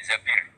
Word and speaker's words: Zabir: nikah sama Abdurrahman Bin Zabir di di hadis ini bukan bacanya bukan Zubair tapiabir Abdurahman bin tapi orang